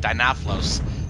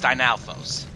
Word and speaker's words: Dinalfos: finally pronouncing it right I kept calling it dinoflos no it's that it's it's dynalfos yeah dinosaurs oh and